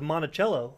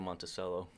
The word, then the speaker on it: Monticello: about that, but then it went on to Monticello, the Jefferson, the people. Monticello. Yeah, I've been saying Monticello.